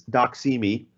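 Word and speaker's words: doxy.me: very creative name obviously when you read it fast its doc see me but it's spelled as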